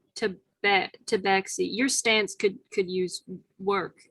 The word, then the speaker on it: tabaxi: It's pronounced tabaxi.